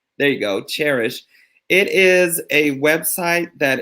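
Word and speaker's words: Chairish: Cherish, and it's spelled like chair. There you go, Cherish.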